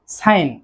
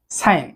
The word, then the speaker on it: sign: এবং সর্বশেষে যেটি রয়েছে সেটি হচ্ছে সাইন। সাইন অর্থ চিহ্ন। SIGN, সাইন। জি লেটারটির যে উচ্চারণটি রয়েছে বা জি সাউন্ডটি কিন্তু সাইলেন্ট থাকছে।